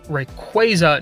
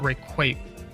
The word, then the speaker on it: Rayquaza: Just like how Rayquaza is pronounced Rayquaza, not Rayquaza, because it's for Quasar.